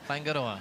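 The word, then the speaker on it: Whāingaroa: You know, we talk about Raglin, but the Mai name Fangoa. Yep. Furoa. Fangora. Yeah, that's perfect.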